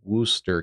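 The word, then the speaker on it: Worcester: It's called It's spelled Warchester, but it's Worooster County.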